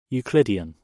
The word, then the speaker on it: Euclidean: Ecludian? Eseludian? Hold on, I need to know. Euclidean.